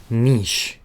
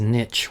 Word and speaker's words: niche: really what you should be focusing on is Niche and then expanding into Diversified so Niche is not only often mispronounced it's as Niche which drives me crazy but it's niche it's